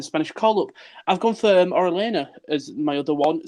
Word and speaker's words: Orellana: Orellana is someone who, not that I've never heard of him, but I only know him in FIFA because he's Chilean. So, yeah. You don't know it's pronounced Orellana?